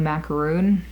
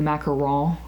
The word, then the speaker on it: macaron: the other one was blue macaroon or blue macaron as to say it properly because a macaroon and a mackerel are not the same thing and if you're gonna